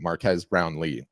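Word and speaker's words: Marques Brownlee: was talking about um Marque Brown Marquez I always forget how to say his name is uh Marcus Brown Lee Marquez Brown Lee and he's one of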